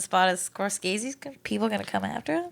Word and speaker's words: Scorsese: if we put Endgame in the number 1 spot as Scorsese's, people gonna come after us?